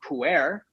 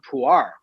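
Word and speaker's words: Pu'er: yeah but that said they don't call it's not called puer it's called puar but i'm not gonna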